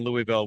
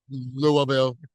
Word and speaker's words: Louisville: You know, there's a umpteen dozen ways to pronounce Louisville. And unless you've got a pinch between your cheek and your gum, you never say it right. Like a native. So Louisville. So we were just talking